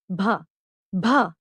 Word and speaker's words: भ: a crane the next कसोनेंट इज भ we know matching sound in English it कैन be best described as the sound of ब इन the word bat बट अ lot breath here an example of